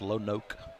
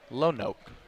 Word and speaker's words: Lonoke: It's pronounced Lonoke. Lonoke.